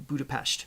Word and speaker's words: Budapest: weekly deash countdown to Budapest well I was told recently it's budapes not pest so it's got the sh sound mixed in oh interesting we